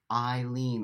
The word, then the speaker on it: Eileen: Good morning is pronounced Eileen, like you lean on me.